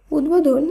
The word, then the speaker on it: উদ্বোধন: এর শুদ্ধ উচ্চারণ হবে উদ্বেগ উদ্বাস্তু এর শুদ্ধ উচ্চারণ উদ্বাস্তু উদ্বোধন এই শব্দটিরও শুদ্ধ উচ্চারণ হবে উদ্বোধন এক্ষেত্রে বফলা